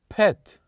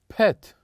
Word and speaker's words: pet: Say with me, pet, pet. Very good. So this is the word pet. And we pronounce the letter E here is very short, pet.